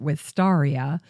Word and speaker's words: Wisteria: The botanist Thomas Nuttall gave the name Wisteria to the genus in honor of Caspar Wistar. Some people pronounce it Wistaria to reflect the proper spelling of Caspar Wistar's last name.